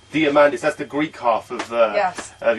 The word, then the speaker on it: Diamandis: me cuz I know quite you how to pronounce it diamandis diamandis diamandis that's the Greek half of your heritage coming